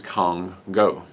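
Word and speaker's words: Kongo: I do apologize, but according to them, the correct pronunciation of the ship that is coming out is Congo.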